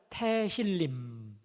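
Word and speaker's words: תהילים: 기도 서였다는 것이죠 여러분 실제로이 시편이 히브리어로 태 신림이라 합니다 따라하실까요 태힐님 조금 발음이 어렵죠 이미라고 하는데 20편 그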